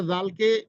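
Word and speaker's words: ذال: শুদ্ধ হয় না তো দেখুন জাল উচ্চারণ করবো আমরা জিহ্বার আগা এবং সামনের উপরের যে দুটি দাঁত রয়েছে সেই দাঁতের একবারে আগার সঙ্গে জিহ্বার আগাটা লাগিয়ে দিব জাল জাল এরপরে হচ্ছে আমাদের যে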